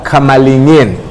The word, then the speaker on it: Kamalingin: So joining me this morning is Peter Kamalingin. Is Correct. That the right pronunciation? Absolutely.